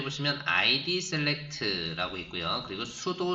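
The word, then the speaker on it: pseudo: 그리고 sudo select라고 해서요. P가요. 묵음으로 발음되네요.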